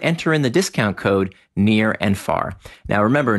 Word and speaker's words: Nir: And you want to enter in the discount code near and far. Now remember, near is spelled like my first name, N-I-R.